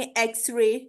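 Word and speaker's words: X-ray: that यहां पे देखें एक्स रे ठीक है यहां पे एकसेप्शन ऐसी है के अ इसमें एक्स सेपरेट है और रे सेपरेट है ठी ठीक है इसलिए इसको एक्स रे बोला जा रहा है ठीक है किसी वर्ड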